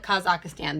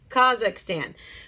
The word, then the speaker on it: Kazakhstan: fun up there okay do not miss pronunciate it and call it Kazakh Stan there is not another a no matter what people say kha'zix tan the next one underneath